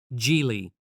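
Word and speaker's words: Gigli: of the romcom called jie in 2003 yeah the title was a bit weird pronounced like gie and the movie didn't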